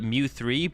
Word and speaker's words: M3W: spelled it you should you should say it mu3 but you should spell it m3e m3w just it's genius um